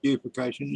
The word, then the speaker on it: bifurcation: Bifurcation. Splitting. Oh, bifurcation. bifurcation, yes. Bifurcation. Well, the I pronounce it buffocation. You can pronounce it bifurcation if you like, but that's what it is.